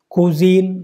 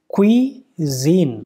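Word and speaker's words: cuisine: अगर आप इसको पढ़ते हो क्यूजीन, कुजीन, तो फिर गलत हो जाएगा। इसका करेक्ट प्रोनाउंसिएशन क्या है? क्वीजीन।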